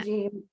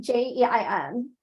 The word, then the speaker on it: Jein: Jean. How do you say his last name? Jean? He started like working with Star Trek Roddenberry? since TMP. No, Gregory Jein.